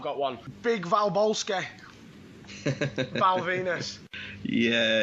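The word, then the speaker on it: Venis: Porn star character, rhymes with penis. Oh, you fucking dirty bastard. Because when Val Venus was in his like peak, I was maybe 15, 16.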